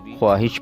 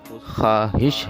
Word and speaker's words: خواہش: دیکھتے ہیں، خواہش۔ خواہش، خواب کی طرح اس کو بھی خواہش پڑھا جاتا ہے خے کے اوپر پیش کے ساتھ، لیکن یہ بھی غلط تلفظ ہے۔ اس کا صحیح تلفظ خواہش ہے، جس طرح خواب کے